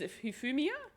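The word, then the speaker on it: Hifumi: And he's Humia.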